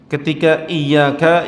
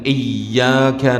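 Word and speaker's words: إِيَّاكَ: penafsiran kalimat I iyaka ynya tidak ditasdid dihilangkan sehingga dibacanya iyaka iyaka itu artinyayams sinar matahari ya jadi ketika orang Dia membacanya tanpa ada penekanan tasdid pada ya damir yang muttasil yang kedudukannya mansub karena dia menjadi Maul yang maf'ul Bih yang muqadam maka itu fatal ya dia seharusnya mengatakan iyyaka na'budu wa iyyaka nastain'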